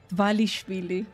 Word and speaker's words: Dvalishvili: Dvalishvili. It's basically the way you read it is the way you pronounce it.